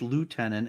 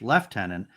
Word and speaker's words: lieutenant: So the differing pronunciations in American English lieutenant and British English left tenant arose because of historical pronunciation shifts in old French and Anglo Norman French.